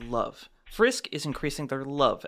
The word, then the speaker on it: LOVE: Um, actually, it's not pronounced level. It's pronounced love.